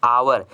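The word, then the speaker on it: hour: देखिए यहाँ पर आवर लिखा है दोस्तों, इसको उच्चारण कीजिएगा तो आवर एक वॉवेल साउंड हो रहा है। अब वॉवेल साउंड से जब उच्चारण होता है तो उसके साथ हम आर्टिकल में क्या लगाते हैं, एन लगाते हैं।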